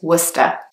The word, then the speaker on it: Worcester: next one is Worcester again it's quite a strange pronunciation because there is an O and an R and a C and an E in the word but only one of those sounds is pronounced so remember is Worcester the next one is